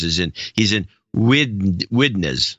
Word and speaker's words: Widnes: That's you go to Holland, and the cab driver will take you right there if you pronounce it like that. Try it again. Widnes? Oh, yeah. We're on our way there, sir. Weidenes would be closer.